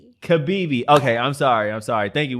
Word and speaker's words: Kibibi: I know you told me, so I'm glad I pronounced it right. So now I'm going to try the last name. Go ahead. Kibibi. Kibibi.